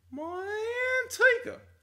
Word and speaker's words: Manteca: just always seemed like the only proper way to say Manteca was Manteca. Just like you had to have some kind of like twang and kind of over exaggerated sense about it because it I don't know.